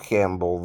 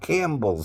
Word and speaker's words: Campbell: I spelled it like the soup, but his wasn't spelled like the soup. Nor is Nev Campbell the actress, right? Now, it's really Camp Bull Soup, right? But we dropped the P, right? The P became silent, and it's now Campbell Soup, right?